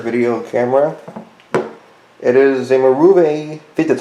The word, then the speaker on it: Marvue: It is a Marvue, that's how you pronounce it, DC075.